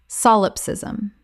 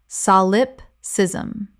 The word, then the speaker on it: solipsism: antithesis antithesis Word 260 solipsism Common mispronunciation solipsism Correct pronunciation solipsism Four syllables with the stress on the first.